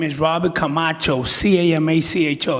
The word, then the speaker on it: Camacho: name is Robert Camacho, C-A-M-A-C-H-O, you know, like Macho Man.